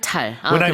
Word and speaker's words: 네안데르탈: 네, 발음이 Because the only reason I say that, 네안데르탈. when I first heard the Korean pronunciation, Yeah.